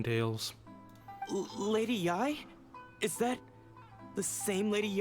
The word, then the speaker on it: Yae: And all is certainly not lost, for I received word not long ago that Lady Yae has taken an interest in your sensei's case. Okay, that's how you pronounce that, because that is one of the characters I heard of before.